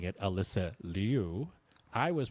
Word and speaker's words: Liu: But anyway, that is why I've been pronouncing it Liu and will continue to pronounce it Liu, is because that is what she's requested we, as the media, continue to pronounce it as.